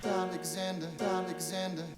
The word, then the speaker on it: Alexander: Alexander, 4 syllables. Alexander. The primary syllable stress is on the 3rd syllable, Zan. It's the highest, the longest, and the loudest syllable.